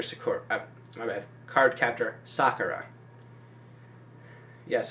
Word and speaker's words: Sakura: my bad card captor sakura yes i learned to pronounce sakura not sakura like they did in card captors so yeah and um